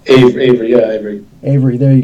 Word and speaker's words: AVRI: So there's an acronym, AVRI. Yeah, we call it Avery.